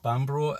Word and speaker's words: Bamburgh: Now, how to pronounce it? Because a lot of Americans pronounce this place and Edinburgh as Edinburgh. So did it Bamburgh and Edinburgh, which I can see